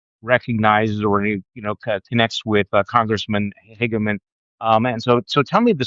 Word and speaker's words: Hageman: This would be Harriet Hageman. Is that how you pronounce the Yeah.